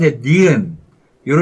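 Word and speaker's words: 니은: So, "ni." Then, the vowel "eu" comes, followed by a final consonant. That’s why "nieun" ends in "n."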